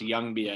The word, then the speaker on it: Ljungby: But it's pronounced Ljungby, I guess. You know, the L is silent.